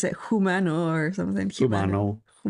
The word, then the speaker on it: Humano: in a documentary called Humano. Very, very, very good. Very good. N-O, I think, Humano. Yeah, Larry pronounces it Humano or something. Humano. It's like human. Yeah. And with an O at the end.